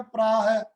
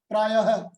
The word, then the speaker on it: प्रायः: प्रायः में लगा होता है तो उच्चारण में आएगा प्राह, प्रायः। तो इस तरह से हम इस विसर्ग का उच्चारण करते हैं।